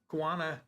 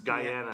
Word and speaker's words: Guyana: Guana is not the way you pronounce it. It's Guyana. I think Guyana where the over 900 followers of Jim Jones died in mass murder suicide.